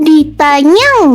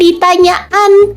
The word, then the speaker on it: Ditanyan: Ini gini ya, nama Ditanyan ini tuh cara bacanya ditanyang ya, bukan ditanyaan.